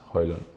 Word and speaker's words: Højlund: But the correct pronunciation is Højlund.